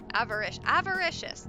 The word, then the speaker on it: avaricious: Rhymes with delicious. Avaricious.